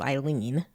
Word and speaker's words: Aileen: There was Lucky's wife, Vera, and then JC's wife, Eileen, but spelled like Aileen.